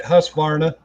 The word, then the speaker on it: Husqvarna: guess I should pronounce that right. Husqvarna.